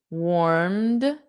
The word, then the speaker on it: warmed: The sun warmed, D, warmed with a soft D, warmed, and it doesn't add an extra syllable.